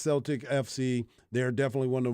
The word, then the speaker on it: Celtic: owns yup so it's crazy and it is pronounced Celtic FC they're definitely one of the most recognized